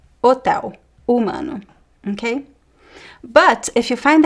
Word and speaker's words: humano: But in word in Portuguese words, the h is silent. História hotel humano, okay?